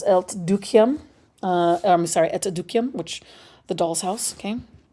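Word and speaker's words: Et dukkehjem: Uh, I'm sorry, Etukium, which the doll's house. Okay. It's pronounced etuk, right? Like that.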